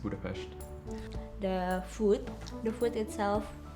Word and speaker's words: Budapest: of people know that that budapest is actually pronounced budapest the food the food